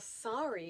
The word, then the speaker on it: sari: repentance sorrow or grief but a sorry is not spelled the way that we pronounce it in english a sorry is a gorgeous confection okay confection's not the right word a sari is a gorgeously draped